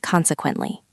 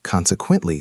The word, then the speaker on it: consequently: It is four syllables. Consequently, stress on the first syllable.